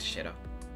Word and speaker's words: Shiro: Shiro. Is this pronunciation correct? Correct, Shiro.